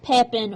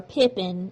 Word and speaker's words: Pepin: what Pepin has donated here Pepin or Pippin his name is pronounced and spelled two different ways so the donation of